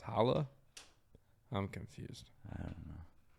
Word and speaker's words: challah: date no wait oh they spelled with a ch chala but it's pronounced holla i'm confused i don't